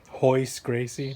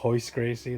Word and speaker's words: Royce Gracie: Okay, because the R is pronounced with an H sound, like Rio de Janeiro, you know, like Royce Gracie. Remember Royce? It's Royce Gracie, the champ of UFC, the first 3 UFCs.